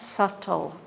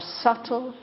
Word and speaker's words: subtle: it is something more subtle this b is silent we don't pronounce the be more subtle and more deep and